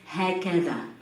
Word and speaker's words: هكذا: the first verse says, هكذا. هكذا. Repeat. هكذا. Okay. We write it with the sound, but in the colloquial we pronounce it z.